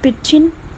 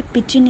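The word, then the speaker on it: pidgin: फिर एक्सेंट आता है, फिर पिजिन, ये डी साइलेंट है, पिजिन इसको कहा जाता है, फिर क्रियोल, और लास्ट पे रजिस्टर।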